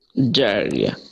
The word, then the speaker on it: diarrhea: diarrhea, great, এবার শুনে দেখি তো আপনারা সঠিক আছে কিনা।